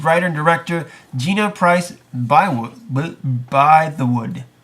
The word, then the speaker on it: Bythewood: It's going to be The Secret Life of Bees writer and director Gina Price Bythewood. How do you say it? It says By the Wood, right? Bythewood. See, there you go.